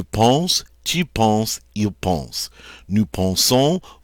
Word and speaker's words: nous pensons: And now we pronounce that nous pensons. So here's an ending that is not silent.